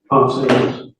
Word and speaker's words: Pon: And Officer Pon, is that how you pronounce his name? Pon. Pon.